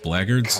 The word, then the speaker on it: blackguards: Let us take our leave from present It's pronounced blackguards.